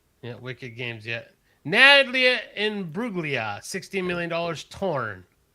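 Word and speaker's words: Imbruglia: Nadia Inbuglia. $16 million. Torn. Did I say that right? Yeah. In Bruia.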